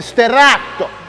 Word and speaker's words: Sterrato: so Aaron you said it wrong let me pronounce it correctly this is a 2024 Lamborghini Stato and Stato is Italian for switchblade no it's